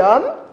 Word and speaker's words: homme: âge qui est gentil il n'a aucun effet sur la prononciation il permet la liaison il permet l'illusion nous